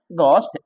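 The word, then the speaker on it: ghost: इसे बोलते हैं घो एच नहीं पढ़ना है घोस्ट क्या पढ़ना है गोस्ट साइलेंट होता है बेटा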